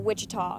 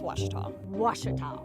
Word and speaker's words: Ouachita: for wasita Baptist University back in Texas everybody pronounces it witch but really it's wash wash how would you pronounce it wash wash it's